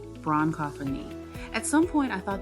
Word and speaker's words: bronchophony: Pronunciation, bronchophony.